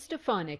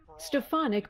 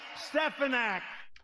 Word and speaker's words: Stefanik: Stefanik was clearly on Trump's radar, even if he couldn't pronounce her name. Elise Stefanik.